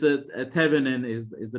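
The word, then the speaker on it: Thévenin: you need to represent your entire model for this Thevenin equivalent model.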